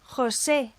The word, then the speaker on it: José: And this forms a sound that does not exist in English, but it's the sound of the CH in Scottish Loch, or the German surname Bach. And imagine the sound of getting a fly out the back of your throat. My Spanish teacher when I was at school told me, but make it less harsh.